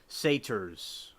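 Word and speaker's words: satyr: sitars well I think I'm G see the pronunciation of this word satar okay so it's called the satar so the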